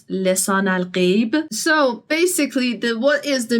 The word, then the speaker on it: Lisan al-Gaib: And like the pronunciation is a bit different. It's Lisan al-Gaib.